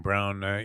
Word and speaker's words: Braun: Like, and the other kid, the guy Braun that pronounces his name Brown, did have that one big game, which was he sucks.